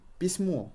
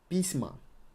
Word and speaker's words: письмо: Письма. Письма. Письмо. Письма. We got a floating emphasis here.